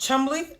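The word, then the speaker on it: Cholmondeley: she's the wife of David chamond and is pronounced Chumley oh okay Chumley interesting the seven Marquee of the chumbley and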